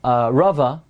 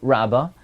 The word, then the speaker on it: Rava: that the name rabba rava used to be pronounced rabba's aleph which we pronounce today rava used to be pronounced rabba and the Remis is